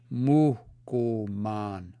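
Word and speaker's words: mohkomân: So, there's aspiration. Muhkuman, muhkuman, muhkuman.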